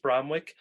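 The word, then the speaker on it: Bromwich: Is this Bromwick? Is that how you pronounce it? Yeah, East Bromwick, where he has a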